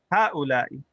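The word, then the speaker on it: هؤلاء: And the plural, we have haula'i. Notice that this is alif, ha, u, la, i.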